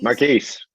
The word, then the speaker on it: Marquis: quintet with Mark Mark how do you say Mark is it Marquis Marquis yep you got it Marquis trumpet Godwin